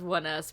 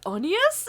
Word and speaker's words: Oneus: you're reading the word it literally says one us but some people are like onions and i'm like it